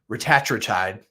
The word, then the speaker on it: retatrutide: rat true tide which again Eli Lily's CEO pronounces it ratri tide r Patra tried it's ridiculous it's R A